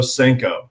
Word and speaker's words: Senko: Seno de hulio uh it's spelled a little differently it's se en Koo but I I would choose the Yamamoto senko there it is I